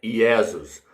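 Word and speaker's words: Iesus: seu nome é hebraico Jesus vem do latim latim Jesus vem lá do Vaticano que significa que pronunciado lá é iesas então aqui o Anjo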